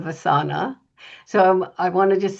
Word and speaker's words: Vasana: First, I've been saying the company name wrong, Vasana instead of Vasana.